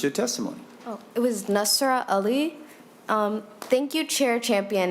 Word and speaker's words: Nasra: We will now go to Najra Ali. Yes. And I hope I'm pronouncing that correctly.